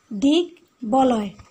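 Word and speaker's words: দিগ্বলয়: যেমন উদাহরণটা খেয়াল করা, সেটা হচ্ছে দিক বলয়, দিক বলয়। তো এখানে আমরা গয়ের সাথে ব আছে এবং সংযুক্ত আকারে ব আছে, এবং আমরা দুটারই কি উচ্চারণ পাচ্ছি, দিক বলয়।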